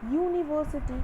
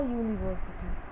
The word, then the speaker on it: university: So as because u is starting from y, we have to put a.